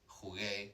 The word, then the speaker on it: jugué: So jugar in the past tense, I need to put that U there, jugué, to protect the hard G sound.